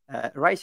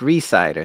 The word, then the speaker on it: Rhysider: today with me uh Jack Rice there is that the correct way to to pronounce that Jack Reese cider thank you recider sorry for